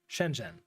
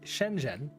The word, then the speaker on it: Shenzhen: total totally random example Shenzhen how do you say it what is the zh doing in there can you just ignore the H spoiler warning you can't uh is its own sound in Chinese we don't have time